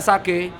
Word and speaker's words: Sage: Bacanya Sage apa Sage apa Sange, Mas? Sage. Harusnya sih sebenarnya Sage.